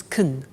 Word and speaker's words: can: can speak spanish now notice the pronunciation of can becomes kun she can she can